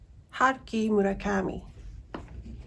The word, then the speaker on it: Haruki Murakami: Haruki Murakami.